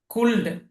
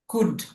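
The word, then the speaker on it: could: কুল্ড, এরকম একটা উচ্চারণ, কুল্ড, কুল্ড, কিন্তু উচ্চারণটা কি হবে? কুড, কুড, এল এর উচ্চারণটা আসবে না, কুড।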